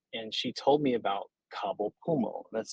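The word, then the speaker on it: Cabo Pulmo: sitting with her and she told me about kabul puma that's spelled c-a-b-o-p-u-l-m-o i'm proud that i could actually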